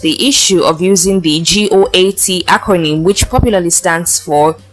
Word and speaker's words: GOAT: issue of using the goat acronym which popularly stands for greatest of all time and is pronounced like the animal goats on his Twitter page